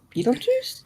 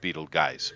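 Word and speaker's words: Betelgeuse: just come out somehow you know karmically I Beetle Juice I don't well it's technically Pro pronounced Beetle guys but most people do say Beetle Juice yeah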